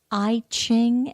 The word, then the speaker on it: I Ching: in its influence and the I Ching of course is how we've sort of slurred the e and it's all one